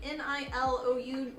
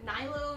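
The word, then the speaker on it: Nilou: moved from Texas that was the I always butchered the name n-i-l-o-u nilo nilo um the red-haired girl love the character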